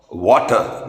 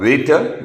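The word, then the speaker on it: Vater: of common bile carcinoma at the ampulla of water many people call it ample of waiter but connect correct pronunciation ampulla it is the opening of pancreatic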